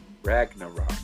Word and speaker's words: Ragnarok: I always pronounce it wrong. Ragnarok.